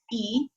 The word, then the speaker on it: y: that you change the the letter Y which means means and it's pronounced e you change it to